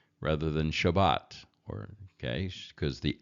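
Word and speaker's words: שבת: That's why you'll hear the word Shabbos rather than Shabbat, okay? Because the S, the T on the end of Shabbat in Ashkenazic is pronounced as an S.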